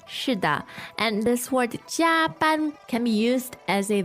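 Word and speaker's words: 加班: Jia ban. Jia ban. Two first tones, and literally if you break this word down, it's pretty interesting.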